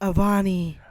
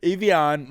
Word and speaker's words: Evian: We have some, how do you say this? Evian? Avani. Avani. No, that's not Evian. Evian mountain water.